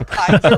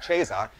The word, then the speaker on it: Caesar: What are you, like some Roman Emperor Kaiser, which is the original Latin pronunciation, by the way, not the ecclesiastical, which would be Caesar.